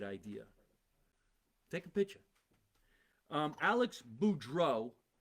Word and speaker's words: Beaudreault: Alex Beaudreault, and the LT is silent, so I don't know why we have that, but there it is.